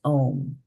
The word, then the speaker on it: om: sun pra prara means the three letters a u m pronounced om Ser in all vesu